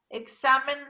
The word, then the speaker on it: examen: los pizarrones mal escrita examen no lleva tilde porque es una palabra grave es decir se acentúa en la penúltima sílaba está siempre la clasificó